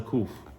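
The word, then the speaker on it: ק: For example, but just to give you an example of how you would pronounce the kuf.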